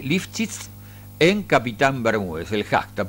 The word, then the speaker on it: Lifschitz: hoy el título es, podríamos utilizar un hashtag, me dice que Eliana lo pronuncia así, Lifchitz en Capitán Bermúdez, el hashtag, porque estuvo hoy gran parte de la mañana el gobernador llegando a suelo bermudense.